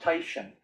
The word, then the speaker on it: Titian: all time, named Titian, spelled Titan, pronounced Titian.